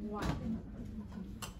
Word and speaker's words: one: Let's check out the pronunciation of one.